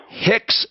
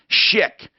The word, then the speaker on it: Schick: Hicks, H-I-C-K-S? It's S-C-H-I-C-K. Okay, Schick.